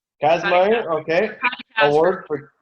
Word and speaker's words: Kazmaier: Kazmaier. Kazmaier.